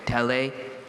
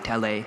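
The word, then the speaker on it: Telei: Tele. T-E-L-E-I. Tele.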